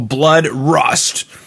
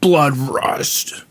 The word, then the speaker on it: Bloodrust: I'm your host, John Harris, and today on the Rock Metal Podcast, we have a Blood Rust. You have to say it like that. Blood Rust.